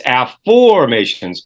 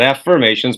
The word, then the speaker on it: Afformations: For most people listening to the program, it's Afformations, and it's spelled AFFOR. Mations, Afformations, not affirmations, but Afformations.